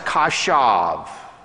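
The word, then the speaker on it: חשב: In the Hebrew text, in verse 11, the Hebrew verb that is pronounced kashav, it can be translated to plan or to devise.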